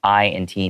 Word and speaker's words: IT: Okay, so this is being pronounced as I and T, not it, and it's because it's an abbreviation for the career of information technology.